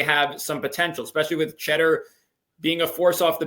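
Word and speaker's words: Tschetter: And Michigan also got this guy's going to could be a 6th man of the year candidate, Will Cheddar. It is not spelled like the cheese, but it sounds like the cheese.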